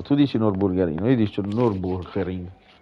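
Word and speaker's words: Nürburgring: mi ha mandato il whatsapp di come si pronuncia nord borgarino ha esalato giudici non bulgari noi dice nurburgring nurburgring io dico dure una risposta è colui che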